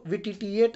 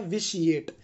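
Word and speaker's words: vitiate: इसको विटिटिएट ना पढ़े, इसका जो असली प्रोनाउंसिएशन है वो है विशिएट।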